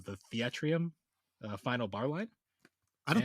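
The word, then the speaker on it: Theatrhythm: butcher the name the theatrum final bar line I don't think anyone knows how to pronounce it but I always just call it theater Rhythm because it's those two words jammed together but I don't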